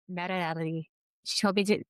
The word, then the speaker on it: Mariely: Again, it's Marelli. She told me to call her Mary Lee, but I insisted on going with the the Spanish pronunciation, so that's what I get at the end of the episode.